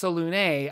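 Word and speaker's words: Selûne: Officially pronounced Selune, I realize I say it incorrectly from what was stated in games such as Baldur's Gate.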